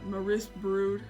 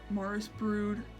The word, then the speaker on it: Maris Brood: Apprentice with her uh Maris Brood or Morris brood I believe is how you say it um but yeah so